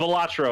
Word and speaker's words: Balatro: Yeah, just Balatro.